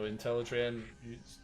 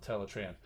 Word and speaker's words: Teletran: thing uh you know intellitran is typically pronounced ah that i've that i've seen but uh but hey g1 establishes teletran so we're going with teletran but anyway that's in